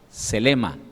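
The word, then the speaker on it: θέλημα: Yendo al griego, voluntad, la palabra voluntad, se lee en el griego como selema, D-S-E-L-E-M-A, con acento en la primera E, de selema.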